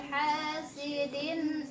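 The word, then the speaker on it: حَاسِدٍ: Hasidin. Ini karena ada alif, jadi disebutnya mad tabi'i ya.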